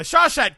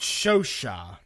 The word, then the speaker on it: Chauchat: the Chauchat can’t catch a f!@#$%& break dude. The Chauchat… wait a minute, the script says pronounced “show-sha”...